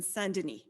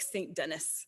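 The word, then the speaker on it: Saint-Denis: for many many years in sundane or it looks like st dennis if you read it in the english pronunciation they were there for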